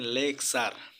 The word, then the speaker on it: lecture: তো ভিউয়ার্স এবার আমরা দেখব রুল নাম্বার 11, শব্দে টি থাকলে, টি এর পরে ইউ থাকলে টি এর উচ্চারণ চ এর মতো হয়। এখানে এক্সাম্পল দেখতে পাচ্ছেন লেকচার, LECTURE, লেকচার অর্থ বক্তৃতা।